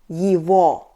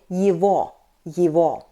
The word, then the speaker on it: его: "His", "its" will be его . Be attentive! We write "его", but we pronounce .